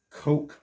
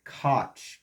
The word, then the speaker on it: Koch: He worked for Coke Marketing, or a lot of people pronounced it Koch, K-O-C-H.